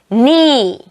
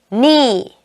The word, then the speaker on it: knee: 자, 이제 크가 묵음이 되는 단어들. knee, knee, knitting, knitting, night, night.